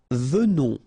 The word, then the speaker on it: venons: Nous venons. Okay, so final S not pronounced, and then remember that you pronounce this like a the, venons. Okay, O-N in your nose, on, venons.